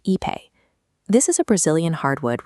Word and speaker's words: Ipe: Finally, we have Ipe, pronounced Ipe.